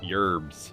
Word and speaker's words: herb: feels forced for me the h is silent always has been always will be of course then there's another dialect in the united states that pronounces the h as a y yerbs and humans an east